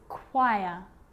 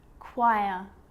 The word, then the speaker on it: choir: But on small occasions or rare occasions, it's not pronounced, the H is silent. So it's choir, choir, echo, echo.